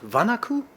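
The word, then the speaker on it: Wanaku: What we haven't shown you today is something that is called Vanaku. That is how it's pronounced.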